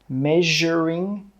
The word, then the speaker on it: measuring: Measuring jug. The S in this word is pronounced the same as in the word 'television'.